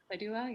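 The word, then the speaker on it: Syedullah: So Jasmine Saidula, I think that's how you pronounce her last name, right? Saidula, yeah.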